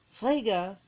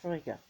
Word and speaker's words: Frigg: Frigga was Dutch. Fricka is German. Diana Paxton said that Frigg is the true pronunciation of this goddess and not Frigga.